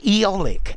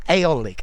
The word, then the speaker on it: eolic: on the microphone this we call eolic energy eolic or aolic energy I would use both pronunciations yeah this is a